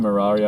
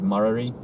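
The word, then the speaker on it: Murarrie: turn and go towards marari how you pronounce it or is it maori which is like on the other side of this road literally if he goes straight he takes you to marari road i pronounce it mirari i'm not sure if other other people pronounce it murray but it's a it's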